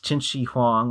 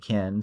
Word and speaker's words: Qin Shi Huang: Then is Qin Shi Huang, although it does seem like he pronounces it Kin, so I guess he didn't look up the pronunciation that deeply.